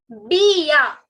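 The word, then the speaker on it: bien: It is not bn. Okay. Like I just said, not all the alphabets are pronounced. So it is sava Bia.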